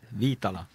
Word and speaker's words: Viitala: Was that right? Viitala. Yeah, now you guys got it.